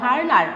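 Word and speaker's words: Werner: হ্যাঁ, এটা হবে ভার্নার। আসলে এটা উচ্চারণটা ভার্নার, এটা VER আচ্ছা ভার্নার 1965, সব ঠিক আছে।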